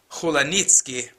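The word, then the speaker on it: Hulanicki: come interior designer by the name of Barbara Hulan Niki well the proper pronunciation would be janitzki but in any event let's call her Barbara heniki and she now lives in Miami she basically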